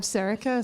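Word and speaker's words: Sorcha: I'm Serica, spelt Socha, pronounced Serica.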